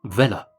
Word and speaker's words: Weller: Orbiting the Pickwickian sun, there's Sam Weller, pronounced Vella, of course, Pickwick's faithful and devoted